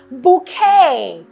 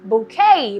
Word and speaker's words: bouquet: move on to is bouquet the T is silent bouquet bo u qu e